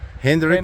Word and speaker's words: Hendrik: How do you pronounce it? Henry. Henrick.